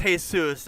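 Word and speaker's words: Jesús: hate shoes but no I know it's pronounced hay-soos I mean but it's spelled Jesus anyway hey yeah hey soos you made my god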